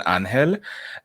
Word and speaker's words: Ángel: So you can find me on YouTube and on Twitch at Ángel. It's spelled Angel, but I prefer the pronunciation Spanish, Ángel.